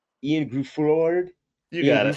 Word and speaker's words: Gruffudd: I meant the Ian Groof. How do you say his name? Ian Gruffudd. You got it. Gruffudd.